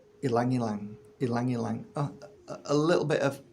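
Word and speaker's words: ylang-ylang: I could never pronounce it properly. Ilang ilang.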